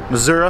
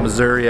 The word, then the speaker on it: Missouri: So day two of the educator tour in St. Robert, Missouri, I guess is the proper way to say it. Not Missouri as we would say it, Michigan and Ohio.